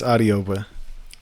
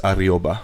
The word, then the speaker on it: Adeogba: It's Adeogba.